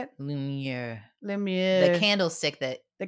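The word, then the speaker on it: Lumière: Lumiere.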